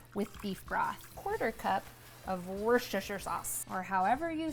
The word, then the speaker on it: Worcestershire sauce: beef broth, 1/4 of Worcestershire sauce, or however you say it. I know it's actually pronounced wooster sauce, but if I say